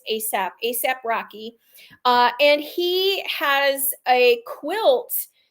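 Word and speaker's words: A$AP Rocky: So this ASAP, except one of the S's is the dollar sign. So I had to look up how to say it, but it's ASAP Rocky.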